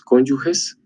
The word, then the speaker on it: cónyuge: compartida entre entre ambos cónyuges ntese que digo la palabra cónyuge no cónyuge porque se escribe solo con g e y no G u e realmente la pronunciación adecuada es cónyuge y no cónyuge esto por puro idioma